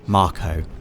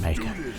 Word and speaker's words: Mako: a Mako reactor Dave officially pronounced Marco right but I've always I've would pronounced it make officially it is Marco doe and you can